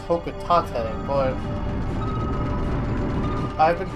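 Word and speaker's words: Hocotate: I hear read have read that it's actually pronounced hok Tate but I've been called a cocka tan my entire life and I probably won't stop Planet hok Tate there you go just in case H Freight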